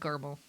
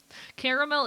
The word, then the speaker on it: caramel: Uh I've always said caramel. Caramel. It's a whole extra syllable.